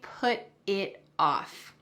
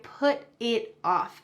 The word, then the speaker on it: put it off: I put it off. And when we pronounce this, the T at the end of put is going to change into a D sound in American English.